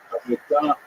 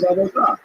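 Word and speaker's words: עבודה: The word avoda in Hebrew, avodah, modern Hebrew, Sephardic pronunciation, it's hard to translate properly.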